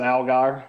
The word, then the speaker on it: Allgaier: How about Justin Algier? Algier? How do you say it? Algier? Justin Allgaier. Allgaier, starting in the 4 spot in the 48 Chevy.